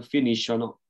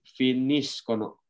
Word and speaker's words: finiscono: Sama halnya dengan yang terakhir ya, loro, bukan finiscono. Tapi finiscono. Itu ya, untuk bentuk io dan loro ya, pelafalannya itu C-nya kita baca seperti K.